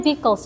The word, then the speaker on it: vehicles: Itu bacanya vehicles ya. Tulisannya V e H bukan vehicle.